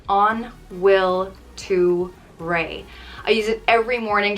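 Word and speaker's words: An bhfuil tú réidh: rey it means are you ready and it's pronounced on will to rey i use it every morning trying to get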